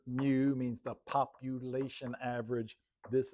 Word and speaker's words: mu: Mu mu said pronounced mu.